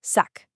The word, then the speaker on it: sac: Pronunciation-wise, it's a crisp hard K sound at the end, sac.